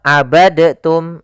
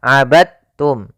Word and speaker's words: abadtum: dalam membacanya eh maaf hati-hati jangan dibaca abadtum ya tapi langsung dimasukkan ke ta abadum bukan abadtum ya Meskipun Dal termasuk huruf Qalqalah karena dia memiliki makhraj yang sama dengan Ta Maka diidghamkan dalnya kepada